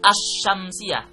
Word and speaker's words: asy-syamsiyah: Yang kedua ada al-syamsiyah atau cara membacanya asy-syamsiyah, berarti alnya tidak terdengar. Itu namanya asy-syamsiyah.